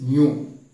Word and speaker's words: mu: Is a Greek word, MEW. The pronunciation is mu.